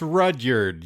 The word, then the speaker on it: Rudyard: It's Rudyard, yeah. What? It's one of those like Roald. Rudyard, I can never pronounce his name.